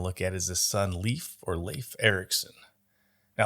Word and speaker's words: Leif: Now, there's a couple of ways to pronounce his name. Growing up, I went to school with a kid who spelled it the same way and pronounced it Leif. And there's the American actor Leif Garrett. I've always used Leif, so that's just what's going to naturally come out when I'm talking.